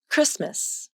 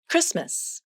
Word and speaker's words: Christmas: Christmas. Did you hear a T sound? Christmas. Nope, there is no T sound in the word Christmas, although the letter T is in the spelling.